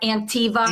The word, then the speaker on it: Anktiva: It's pronounced Antiva.